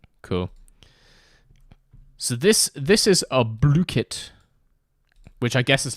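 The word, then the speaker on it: Blooket: Blookit. Oh, and it has a pronunciation on the website.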